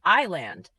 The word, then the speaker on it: island: island Pronounce it as island. The letter S is silent.